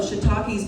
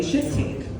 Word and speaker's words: shiitakes: If you don't know shiitakes pronounced like that, you're gonna say shit cake.